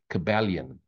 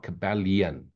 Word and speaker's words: Kybalion: Look up the Kybalion, yeah, Kybalion or lion, Kybalion, I think is the way you pronounce it.